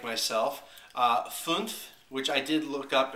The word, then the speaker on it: fünf: But anyway, this is the Fünf German Riesling, as the bottle says. We got this for $5.99 at HEB Plus. For those of you who do not speak German, like myself, Fünf, which I did look up and learn how